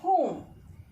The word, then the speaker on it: whom: Next, whom. In whom, though W is there, it is silent.